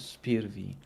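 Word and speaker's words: SPIR-V: five I was telling I was always saying five but I I think it's spear V so maybe again maybe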